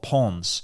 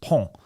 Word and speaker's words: Pons: I'm going through these tiny French towns, and I lived in a place called Pons, Pons, but it's pronounced Pont. In France, you don't pronounce the S.